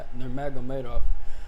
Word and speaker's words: Nurmagomedov: No disrespect, Abdul Banapovich, Nurmagomedov.